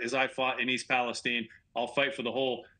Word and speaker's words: Palestine: name of the town it's East Palestine not Stein you know Tammy President Biden announced this week that he will soon visit East Palestine for the first time